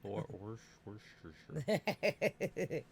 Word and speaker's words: Worcestershire: But you still know how to pronounce Worcestershire sauce properly. That's good. You're probably the only person on the planet who can do that, actually. I wish I could say it right. Worcestershire. Worcestershire.